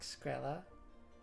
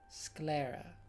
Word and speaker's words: sclera: I think I recently found that I had been saying it wrong. Is it? What is it? Is it like Slekra? That doesn't sound right. Sclera. That's what it is, yeah.